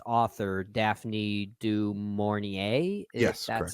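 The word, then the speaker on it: du Maurier: source material but I know its author Daphne dorier that's how you pronounce her name uh I could helped you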